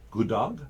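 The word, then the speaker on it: god morgen: good morning go dog good dog good dog good dog sounds almost like good morning it does sounds like a good dog you got a good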